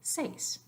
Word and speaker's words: seis: in the previous slide so this is just one syllable seis but in the next